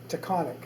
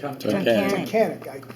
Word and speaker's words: Tunkhannock: Met him in, I always have trouble pronouncing it because around our way it's always called Taconic, and it's not. How do you say it? Tunkhannock.